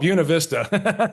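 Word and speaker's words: Buena Vista: need a pronunciation guy don't ever go to buav Vista then which we call buav Vista oh oh oh yeah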